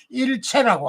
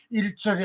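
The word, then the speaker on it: 一切: 그래서이 글자 1절이라고 읽으면 안 된다는 것이고 일체라고 합니다. 일체 일절이 아닌 일체라고 읽는 것이 바로 똑바른 말이라는 거죠.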